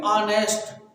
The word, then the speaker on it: honest: देखो ऑनेस्ट, ये HONEST लिखा है, स्टार्ट किससे होता है? एच से। हमारा क्या है? जो जिसका पहला अक्षर क्या हो? कॉन्सोनेंट। एच एक कॉन्सोनेंट है, एच क्या है? कॉन्सोनेंट है। लेकिन बोलिए ऑनेस्ट, बोलो ऑनेस्ट। क्या बोलेंगे? ऑनेस्ट। आ आवाज किससे आ रही है? स्वर से।